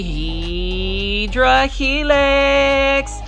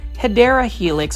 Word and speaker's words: Hedera helix: if I don't say Hydra Helix. Say it with me, plant foldies, Hydra Helix. Or the correct way to say it with me as well, Hedera Helix, or the English ivy.